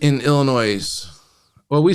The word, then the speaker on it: Illinois: LOS is silent in Illinois. Well, we say Illinois.